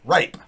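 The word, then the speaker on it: Rappe: Last name spelled R-A-P-P-E. Pronounced Jimmy Rape.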